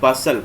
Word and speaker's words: bustle: अगला वर्ड आपके लिए बसल। बसल का मतलब होता है हलचल, हलचल, BUSTLE, यहाँ पे टी साइलेंट रहेगा।